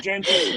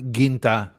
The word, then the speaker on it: Genta: I say it in the French way, which is Gérald Genta, but yeah, but Genta is good, but Ginta is they would use a harder G.